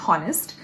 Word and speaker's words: honest: silent, for example, in honest, when H is silent, I'm obviously not going to say honest.